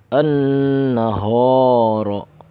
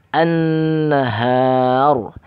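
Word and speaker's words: النهار: Contohnya, example, an-nahor. An-nahor, salah, bukan nahor tapi an-nahar.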